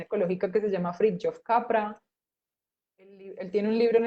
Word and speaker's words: Capra: youtube se escribe fritjof capra así tal cual como suena como cabra pero con pe y leer cosas del